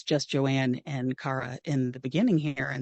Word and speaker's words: Kara: I just mispronounced my own character's name. Shame on me. It's Kara, and I make a point of making sure that that's said later in it.